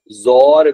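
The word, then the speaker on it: XOR: हम लोग बोलते हैं एक्सक्लूसिव और, जिसको हम लोग पढ़ते क्या है समटाइम जो है हम लोग इसको जोर भी प्रोनाउंस कर रहे होते हैं, ठीक है जी।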